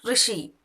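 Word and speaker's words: ऋषि: ரிஷி இது வந்து பார்த்தீங்கன்னா RSHI இந்த சவுண்டு தான் வரும். ரிஷி. அந்த யூ சவுண்டும் வராது, ஐ சவுண்டும் வராது. அதனால தான் அந்த ரூனும் ப்ரொனவுன்ஸ் பண்ணுறாங்க, இந்த லெட்டரை ரீனும் ப்ரொனவுன்ஸ் பண்ணுறாங்க. ரிஷி அந்த ர சவுண்டு மட்டும்தான் வரணும். ரிஷி.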